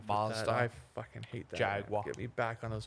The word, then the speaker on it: Jaguar: I think it's Jaguar. Jaguar. Jaguar. Yeah, because what is it? They always make fun of us because we say it Jaguar. Yeah. Jaguar. We get- say it like we're from Texas.